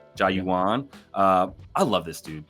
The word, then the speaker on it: Jauan: he scored touchdowns in his name is Joan and it's spelled j Au everybody Jan Jennings found that out Jan jauan uh I love this